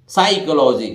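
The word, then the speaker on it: psychology: तो देखिए यहां पी साइलेंट रहेगा, साई एस वाई से साई, और यहां एच साइलेंट रहेगा। तो देखिए साई को और ये लॉजी है, साइकोलॉजी, साइकोलॉजी, साइकोलॉजी जिसको बोलते हैं मनोविज्ञान को।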